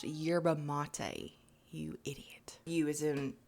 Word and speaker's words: yerba mate: yeah yeah yeah um it's pronounced yerba mate you idiot you is